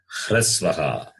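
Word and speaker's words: ह्रस्वः: Hrasvaha. It is pronounced as Hrasvaha.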